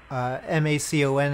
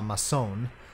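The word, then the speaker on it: Mâcon: The city is Macon. M-A-C-O-N, and no funny little thing on the C, so it's not Mason.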